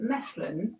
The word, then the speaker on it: mesclun: is that salad mix and how do you spell it? It's called mesclun, a mix of young tender salad greens often labeled as spring mix. It is spelled m e s c l u n. Mesculin.